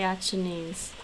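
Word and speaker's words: Acehnese: person at your knees that's how you say achinese it's almost like achoo okay now this one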